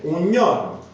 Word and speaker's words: giorno: Quindi noi, tramite appunto l'ortoepia, lo studio della pronuncia, sappiamo che la parola va scritta sempre iorno, con la J, però quando è preceduta dal l'articolo indeterminativo maschile un si pronuncia gn, un giorno.